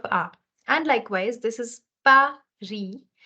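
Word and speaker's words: Paris: likewise this is Pari why am I not pronouncing the s in the end is because the consonant in the end is not pronounced in most cases so you're going to say Pari okay also the r sound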